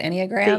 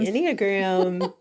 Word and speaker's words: Enneagram: guest today talking about how do you say it anyag gram inag like it's not animal gram if you try to read it and you go so it comes from the Greek from the word nine in okay so you didn't